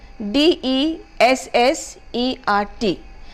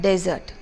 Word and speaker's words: dessert: I have this word de SS e RT which is to be pronounced as dessert and not desert when you say desert you are talking about a dark desert which has you know